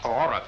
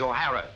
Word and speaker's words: O'Hara: do you remember saying my name is not aurora it is o'hara here mr o'hara yes